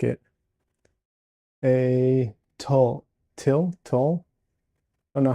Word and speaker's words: tulle: A tulle. I don't know how I don't know how to pronounce that. Tulle? Yes. Tulle? Kind of like toll road, only more you sounding.